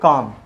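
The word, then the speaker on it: calm: इसके बाद एल के बाद एम, इसको बोलेंगे कॉम।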